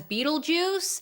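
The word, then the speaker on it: Betelgeuse: Beetlejuice but we know the character's name is pronounced as Beetle Juice so my question is why is the title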